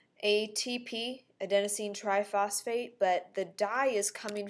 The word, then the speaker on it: adenosine triphosphate: And we can pronounce it as adenosine triphosphate. And so there's the pronunciation. You might want to practice that. So it's adenosine triphosphate.